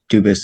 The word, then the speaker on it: Dubus: Dubus is the English pronunciation. Dubus is the original French.